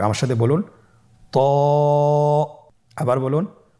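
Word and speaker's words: ط: তো হরফটি মোটা হরফ, এটা উচ্চারণের সময় অবশ্যই মোটা করতে হবে এবং উচ্চারণ করার সময় 1 আলিফ টেনে পড়তে হবে। আমার সাথে বলুন ত।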